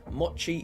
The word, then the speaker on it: Mochi: Oh, to avoid further confusion for you, Gem, the ch in my name is pronounced how you would pronounce cheddar. Mochi is a chap.